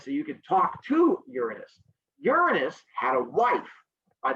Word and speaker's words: Uranus: to pronounce it as uranus and then giggle almost every time i will be pronouncing it the mythology way which is uranus my question is where